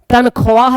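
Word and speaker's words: تنخواہ: खवाहिश लिखा हुआ है तनख्वाह लिखा हुआ है पढ़ पढ़ते हैं तनखा खवाजा लिखा हुआ है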